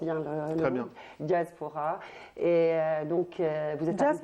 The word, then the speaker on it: Djazpora: Diaspora. Et donc vous êtes Jazz comme Jazaïr. Exactement. Jazz comme Jazaïr. Et Pora, c'est la moitié de Diaspora.